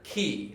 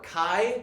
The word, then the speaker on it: chi: This is the Greek letter key, or chi. Yeah. You can pronounce it either way.